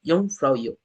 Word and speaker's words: Jungfraujoch: Some people say it as Jafrans, but the right way to say it, Jungfraujoch.